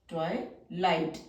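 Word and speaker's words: twilight: बनाया है ए टलाइट जी एच तो हमारा साइलेंट है टय लाइट टय लाइट टी का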